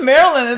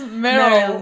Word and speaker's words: Meryl: It's not Marilyn, it's Meryl.